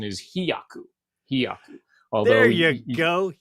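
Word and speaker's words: 飛躍: And in the interest of communication and clarity, I should specify that the pronunciation is hiyaku.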